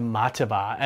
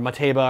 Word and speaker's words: Mateba: very familiar to you, the Mataba, or Mateba, or however you want to pronounce it, by Marujan.